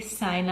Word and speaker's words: Sayna: So the way you pronounce my name is actually Sayna.